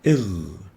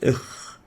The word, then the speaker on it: غ: It should be pronounced with إغ, غير المغضوب, not إخ, not إج, إغ, غين.